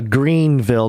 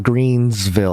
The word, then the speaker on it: Greenville: podcast apparently okay uh greenville not greensville i keep saying greensville